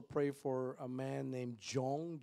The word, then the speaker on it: Jong: Also pray for a man named Jong, J-O-N-G, or maybe it's J-U-N-G, but nevertheless it's pronounced as Jong.